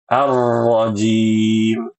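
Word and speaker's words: الرجيم: Dan pada kata arrajim ya bacaan huruf ro ibu-ibu yang fasih bacanya arrajim. Arrajim seperti ini yang masih ditoleransi minasyaitanirrajim nirrojim nirrojim begitu. Nah, yang harus dihindari adalah getarnya terlalu banyak.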